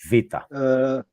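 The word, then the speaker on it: βήτα: It's an M and a P to make the B sound. But on its own, it is Vita.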